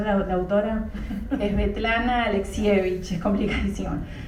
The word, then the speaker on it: Svetlana Alexievich: ¿Puedes pronunciar la autora? Es Svetlana Alexievich, es complicadísimo.